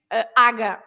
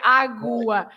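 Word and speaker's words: água: But you don't say aga. You don't say aga, right? You say agua. You have Agua. to pronounce the U.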